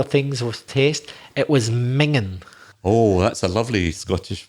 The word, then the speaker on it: minging: would you spell it well it's actually minging but this is another scottish system that miss out the final g m-i-n-g-i-n-g but we would actually say mingan something that's very bad